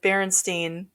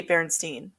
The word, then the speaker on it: Berenstain: I remember it like you pronounced it as Berenstein, but it had an A in it So it looked like Berenstain Bears or something.